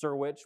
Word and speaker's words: Syrewicze: It's pronounced Syrewicze, which is way simpler than it looks.